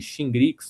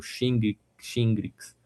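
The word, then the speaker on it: Shingrix: Ela chama e tem esse nome aí, Xingrix ou Xingrx. dependendo da pronúncia aí ela é uma vacina que já tem vários estudos.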